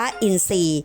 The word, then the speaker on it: อินทรีย์: คำ ควบ ไม่ แท้ ทร ออก เสียง เป็น ซ้อน ทำ นี้ อ่าน ว่า อินทรีย์ นัก เรียน ต้อง จันทร์